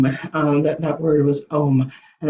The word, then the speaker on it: Om: and that word was Om, that word was Om, and it's spelled O-M, but it's pronounced A-U-M, and so we actually want to make all those three sounds, and then Shanti will